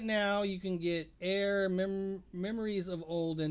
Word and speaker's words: Aer: So right now you can get Air Memories of Old, and the Air is spelled AER, Mm-hmm.